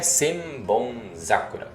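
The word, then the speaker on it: Senbonzakura: tá contando coisas agora o último zakura que você ouve é na verdade Sakura então é sem bom Sakura poderia ser assim mas na gramática japonesa algumas sílabas elas trocam de sílabas quando estão dentro de algum conjunto de candis e esse S acaba virando Z por isso que é semon zakura 1 pétalas de cerejeira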